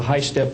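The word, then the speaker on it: HySTP: and also on the the high step program that's spelled h y s t p means hypersonic test bed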